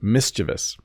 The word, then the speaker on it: mischievous: in a lesson and the first pronunciation I gave was wrong this is mischievous so this kid has a slingshot and he looks a little bit mischievous but a lot of English speakers will say mischievous which is totally wrong